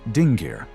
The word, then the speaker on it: dingir: The same rule applies to the word dingir meaning god. In its base form it is pronounced dingi.